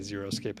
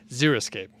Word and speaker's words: xeriscape: yeah i don't know i always want to say zero escape anyway xeriscape okay so we're looking for